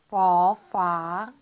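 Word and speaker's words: ฝ ฝา: F 발음으로 해주시면 돼요. 퍼파, 퍼파.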